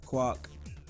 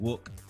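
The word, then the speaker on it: Quoc: who is on the and my good buddy Kwok aka Harry which is his real name or it's actually pronounced wook but it's qu OC so I come clock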